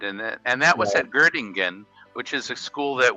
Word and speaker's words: Göttingen: And I think it's pronounced Göttingen. In German, it would be Göttingen.